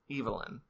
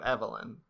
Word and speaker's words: Evelyn: okay I don't okay every time that Chris said evylyn yes instead of Evelyn because he didn't insist